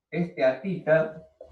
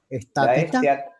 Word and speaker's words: esteatita: Otra serie de minerales es la esteatita, la serpentina, el talco, Perdón, ¿cómo dijo la anterior? la ¿Estatita?